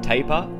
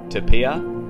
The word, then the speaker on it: tapir: such an elusive creature there's a few different ways to pronounce taper which may confuse people you can say taper Tapia Tapia or Tapia either one of these is correct oh ah evidence of